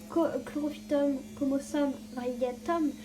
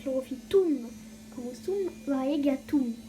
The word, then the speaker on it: Chlorophytum comosum variegatum: C'est pas Chlorophytum comosum variegatum, c'est Chlorophytum comosum variegatum. En latin, tous les U se prononcent OU.